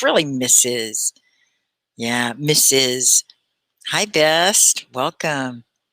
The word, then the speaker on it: Mrs: and it's pronounced mrs misses i know it's pronounced like miss is but miss is another